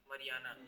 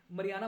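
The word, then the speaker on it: Mariana: मरियाना। मरियाना, ठीक है। मरियाना मत बोलो, मारियाना बोलो। मरियाना वाला फील आता अपने इधर वाले एक्सेंट में। हाँ, तो मारियाना है वैसे सही प्रोनाउंसिएशन इसका, ठीक है।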